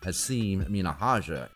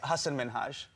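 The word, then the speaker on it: Hasan Minhaj: it's an easy one he said people call him haseem minahaja and other weird versions of hassan minaj hasan minaj yes no well my name is hassan minhaj oh he gave a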